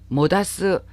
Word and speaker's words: 黙す: 자, 다마루, 목스르, 모다스 다 침묵하다로 통일해서 대표적인 뜻을 기억을 해주시면 좋겠어요. 같은 한자지만 발음이 이렇게 다릅니다.